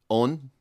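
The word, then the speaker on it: Eoin: And Owen is spelled E-O-I-N or E-I-O-N. Really? It's why you spell Own. Own? Not Owen? Own. Right, well, that's where Owen is an English, anglicized version of Own, which is an Irishized version of John.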